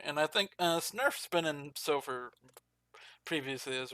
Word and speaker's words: sgnurf: Is that how you say it? SG Nerf? Yeah, Snurf. Signurf? G silent. Snurf? G is silent.